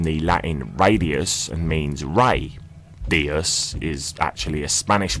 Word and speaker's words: Ra: Radio comes from the Latin radius and means Ray Theos is actually a Spanish word meaning God